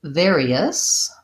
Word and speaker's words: various: And same with various. Various has the air, various, and then an E, us, with a schwa at the end. Various, first syllable stress.